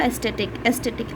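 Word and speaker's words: aesthetic: एस्थेटिक अब spelling देखिए यहाँ पे ECS, ये तो एक्सेस हो गया, बट इसे बोलते हैं एस्थेटिक है।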